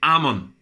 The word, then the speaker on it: Amon: J'ai dit Hamon, c'est pas Hamon, c'est Amon.